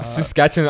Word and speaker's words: Saskatchewan: Um Saskatchewan's in Canada actually in New uh Saskatchewan. I don't know if that's the right pronunciation. It is. It is.